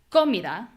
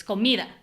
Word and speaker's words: comida: Like, it's not comida, it's not comida, it's comida. And we hear that mi is the strong syllable.